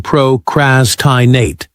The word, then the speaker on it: procrastinate: Stress the first syllable in ambishious but the second in procrastinate.